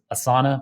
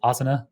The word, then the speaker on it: Asana: You got Twitter, Stitch Fix, Lyft, Pinterest, a company that everyone else pronounces Asana, but I say Asana, which I'm pretty sure is how you say that in Sanskrit.